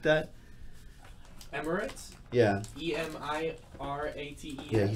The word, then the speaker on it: Emirates: Tommy Bowers was making fun of you for how you mispronounce Emirates or something like that. Emirates? Yeah. E-M-I-R-A-T-E. Yeah, he said you said it weird. don't think so. I said it Emirates.